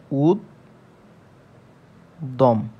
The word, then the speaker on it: উদ্যম: আছে এজন্য কি হবে উদ্যম জ ফলাটা দুইবার উচ্চারণ হবে অর্থাৎ দফ দ টা দুইবার উচ্চারণ হবে তাহলে কি হবে উদ দম এবং উদ দম দেখুন